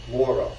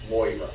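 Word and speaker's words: Maura: me that I should pronounce her name Mora not MOA and I loved him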